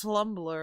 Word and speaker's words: Tumblr: but just in case Tumblr is T U MBL LR no it's tumbler and the first L is silent slum tumbler slum tum